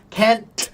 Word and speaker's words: can't: Can't t can't and can there is a strong t.